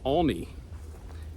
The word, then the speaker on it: Aulne: saw me and came over and said it's pronounced only a u l NE e only and uh